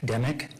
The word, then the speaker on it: Demick: Could you please state your name and spell it for the record? Yes. My name is Josh Demick.